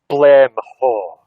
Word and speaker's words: Glenmorangie: Glenmorangie.